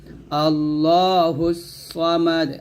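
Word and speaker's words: ٱللَّهُ ٱلصَّمَدُ: পেশ হদ মোটা হবে আল্লাহুস সামাদ সা বলবেন না স আল্লাহুস সামাদ আমরা এখানে একটা ভুল করি এ সদ মত করে ফেলে এই ভুলটা করবেন না আল্লাহুস সামাদ লাম ইয়ালি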